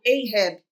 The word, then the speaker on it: Ahab: Mas sabemos que esse nome, Acabe, é de origem hebraica e no inglês, por exemplo, é pronunciado Ahab.